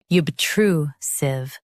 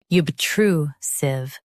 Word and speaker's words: obtrusive: Both US and UK have the same pronunciation of this word, OBTRUSIVE. Now read the syllables shown on the screen naturally. True. Sieve. OBTRUSIVE. Stress true and keep sieve soft. True. Sieve. OBTRUSIVE.